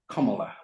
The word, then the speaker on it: Kamala: 2018 and she says my first name is pronounced kala like the punctuation mark it means lots of